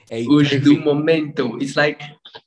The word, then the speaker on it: Osdomomento: Claudio Osdomomento. Osdomomento. It's like momento. Momento. The meaning of momento is like moment.